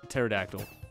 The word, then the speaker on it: pterodactyl: supposed to know that there's something silent and pterodactyl that the P is silent how are you supposed